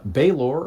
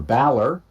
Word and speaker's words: Balor: The pit fiend is like your classic gargoyle Christian devil, whereas a Baylor or a Balor, depending on how you choose to pronounce it, originally comes from